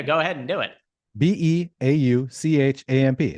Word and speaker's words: Beauchamp: Beauchamp. I can spell that for you if you want me to. Yeah, go ahead and do it. Beauchamp. It's just beautiful and then champ.